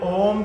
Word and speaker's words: ओम: के लिए या क्योंकि ओम तीन शब्दों से मिलकर बना है ओ उ और म तो ओ उ म